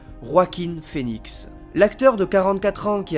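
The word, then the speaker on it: Joaquin Phoenix: J'ai bien sûr nommé en faisant attention à la prononciation Roakin Phoen l'acteur de 44 ans qui a vu sa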